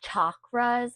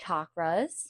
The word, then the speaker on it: chakras: So the way to pronounce them is chakras, like chair. I used to say chakras with an S, but it's actually chakras.